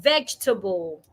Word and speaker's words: vegetable: Take the word vegetable. Vegetable. A lot of people pronounce the word as vegetable, having four syllables. However, the word has just three syllables.